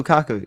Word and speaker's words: Lukaku: Romelu Lukaku?